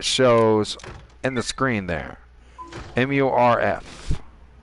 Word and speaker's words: MURF: MURF. Morph. Am I pronouncing that right? Morph? Morph. Morph. All I know is it's Smurf, just with an M instead of an S.